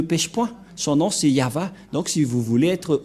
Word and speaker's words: Yahvah: de de yava et la prononciation de y h selon les Hébreux c'est yava et personne ne peut